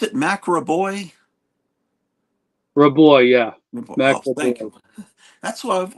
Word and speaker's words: Raboy: uh War covers oh yeah is do you pronounce it Mac raboy raboy yeah than that's why I've always pronounced it but I hear people say Ray boy and all this stuff and I'm thinking if